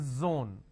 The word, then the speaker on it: zone: is Zoo disown Breeze now this is a z sound for example zebra for example Zone for example zeal okay